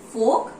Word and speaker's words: folk: L is silent, you call it folk art.